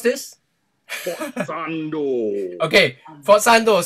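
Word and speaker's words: sforzando: Okay, forzando. So the S is kind of silent.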